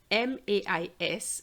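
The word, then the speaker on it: maïs: we had the word m-a-i-s and we pronounce it me but this time we're going to have ma is and we have to have the e sound because of the itrema let's try another one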